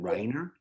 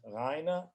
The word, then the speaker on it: Rainer: Was it Reiner? It's Rainer, Rainer, Borsdorf, B-O-R-S for Sam, D-O-R-F.